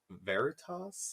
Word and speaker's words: veritas: from the Latin word, is it veritas? Yeah. That's how you say it.